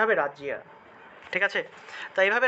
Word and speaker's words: রাজ্য: দিতে পারেন ঠিক আছে তাহলে এভাবেও লেখা যায় রাজিয়া এই যে রসইয়ার পরিবর্তে রসইকার ব্যবহার করলাম আর অন্তস্থ তাহলে রাজিয়া উচ্চারণটা হবে রাজিয়া ঠিক আছে এভাবে রাজ্য শব্দটাকে আমরা রাজিয়া হিসেবে উচ্চারণ করব অর্থাৎ জফল